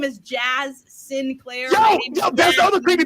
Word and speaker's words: Sinclair: Now, to be clear, like Jazz is Sinclair, Sinclair. Yaz, our buddy Yaz, is Saint Clair, Saint. Oh, okay. Clair. Yeah. Okay. I spell it ST period CLAIR.